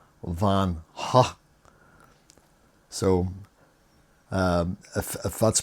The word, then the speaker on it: Van Gogh: It's a brand, the British, they pronounce it Van Gogh. The Americans pronounce it Van Gogh. But apparently it's meant to be pronounced Van Ha.